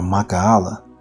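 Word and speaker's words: מיכאל: And that's talking about the archangel Michael or Mahala in the Hebrew. That's how you pronounce that.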